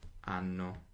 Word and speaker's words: hanno: Loro hanno. Now, if I didn't remember that the H is silent, I'd make a little note of that as well.